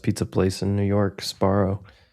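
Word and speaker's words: Sbarro: And he goes into Asparro. I think you're saying it wrong. Sparrow.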